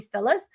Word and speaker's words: Phyllis: not to call me Phyllis. And the second thing is actually most Filipino have a hard time pronouncing the word Phyllis because it's PHY instead of FE.